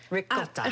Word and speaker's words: ricotta: So it's ricotta. Ricotta. Oh man, yes, I'm ricotta. sold then. You gotta roll your R's. Ricotta.